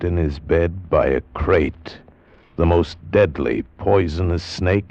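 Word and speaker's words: krait: First, the crate. You spell it K-R-A-I-T.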